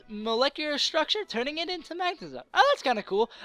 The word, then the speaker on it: Magnezone: Magnezone was caught. See, I know I'm pronouncing that one right, and watch. Someone be like, it's actually Magnezone. You have to put an emphasis on the Magnezone, the magnet area Pokemon.